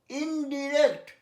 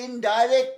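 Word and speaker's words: indirect: ইনডিরেক্ট, কথাটা ইনডাইরেক্ট না, অনেকে বলে ইনডাইরেক্ট, যেমন ডাইরেক্টর ডিরেক্টর দুটোই হয়, কিন্তু এখানে ইনডিরেক্ট।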